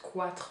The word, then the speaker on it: quatre: Quatre, so be careful, you don't pronounce this U here, it's not quatre, but quatre.